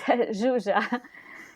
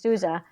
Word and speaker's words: Zsuzsa: Why don't you pronounce your name for me? It's Zsuzsa. It's Zsuzsa.